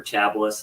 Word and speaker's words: Chablis: Chagpain, Chagpain or Chablis as it's actually called. Chablis. Yeah, Chablis. I'll have a glass of Chablis.